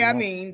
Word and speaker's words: Amin: Amin, that's how you say his name.